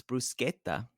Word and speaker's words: bruschetta: the Eternal debate of it's not bruschetta it's this is gonna this is gonna humiliate you every time you order an Italian restaurant it's bruschetta that's how it's said correctly and when I say